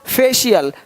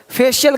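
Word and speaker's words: facial: फेशियल फेशियल करवा लो। करवाते हो फेशियल इस तरह से। यानी कहने का सेंस ये है कि शी का उच्चारण कितना महत्वपूर्ण है।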